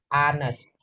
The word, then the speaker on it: honest: hes Man hes Man Kenapa dia pakai en Padahal di sini ha karena cara bacanya honest ini pakai a anest Anes seperti atau anella